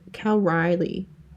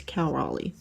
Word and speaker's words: Raleigh: I like saying Cal Cal Riley is how I like to say it, but it's Cal Raleigh.